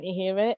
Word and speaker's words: Ihiwe: And you did say it properly, so no problem. So my name is Ihiwe, and I'm a social worker.